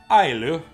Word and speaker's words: Islay: Islay, pronounced Islay, is Islay?